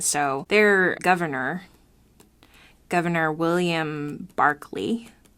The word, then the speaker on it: Berkeley: their governor governor William Barkley spelled Berkeley but pronounced Barkley I don't know why